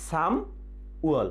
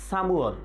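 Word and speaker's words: 삼월: সাম উয়ল, কিন্তু উচ্চারণটা হবে কি? সামুয়ল, সামুয়ল, সামুয়ল।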